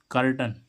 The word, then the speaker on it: curtain: ऐसे इसमें देखें CURTAIN, कर्टन। कर्टन, कर्टन means क्या होती है, पर्दा। तो यहाँ ए आई का उच्चारण क्या हो रहा है, आ, कर्टन।